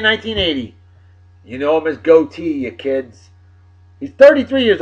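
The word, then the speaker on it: Gotye: thought it was pronounced go Thai or got gee or something like that g-o-t-y-e and I found out from the kids out there that is goatee OT that's g-o-a-t-e-e okay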